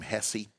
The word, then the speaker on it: Hesse: He says his friends call him Hesse, but it's pronounced Hess.